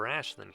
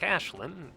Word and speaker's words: Aisling: Unlike Ashlin, who as you can see here, very very clearly says how her name is pronounced.